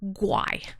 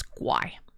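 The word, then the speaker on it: 鬼: Ghosts in Chinese is pronounced guai. It's guai. Even white people is guai. Guai is like white or ghost.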